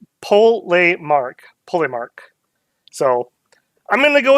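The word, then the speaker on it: Polemarch: As per my community post, if I could decipher what people were trying to suggest for pronunciations, it looks like it's Polemark.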